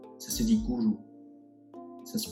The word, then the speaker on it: guru: D'abord, ça se dit pas gourou, ça se dit gourou. Ça se prononce avec un minimum de respect pour le son qui a été forgé.